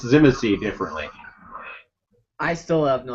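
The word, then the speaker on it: Tzimisce: novels of the original clan novels, and it's Shimshe. I would never pronounce it like that.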